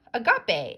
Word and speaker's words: agape: Love to all, or agape, as they say here. It's pronounced like this.